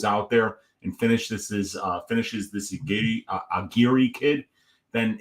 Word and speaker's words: Aguirre: And he told me, no, man, it's not Aguirre, it's Aguirre. And that is how you pronounce that young man's name.